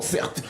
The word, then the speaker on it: Certes: Certes, exactement, certes. Mon prénom c'est Certes, ça s'écrit C-E-R-T-E.